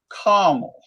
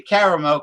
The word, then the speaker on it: caramel: the whiskey scout likes to say carmel i can't i can't say carmel because it's not spelled that way camel carmelized i say caramel because that's the way it's spelled that's what i say i don't say pour